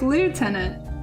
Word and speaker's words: lieutenant: We should pronounce this word the way that it's spelled. Fuck the British. Fuck the Canadians. We're gonna pronounce it like lieutenant.